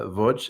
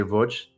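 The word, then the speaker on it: Łódź: Uh and the name of the city is uh Voj. It's it's spelled like to Americans it looks like LODZ but they say Voj.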